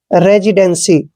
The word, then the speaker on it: residency: एन को हमने आधा न लिखना है और सी को उच्चारण श करते हैं और वाई को ई की मात्रा पढ़ते हैं। दोस्तों सी के बाद जब भी वाई आता है तो सी को हो स ही पढ़ना है।